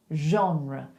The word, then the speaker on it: genre: So we just make the R more English, but we still go j, genre.